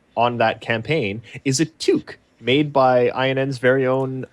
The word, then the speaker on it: toque: It's pronounced a toque.